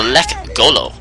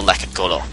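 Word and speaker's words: Lekgolo: Their native name is the Lek Golo.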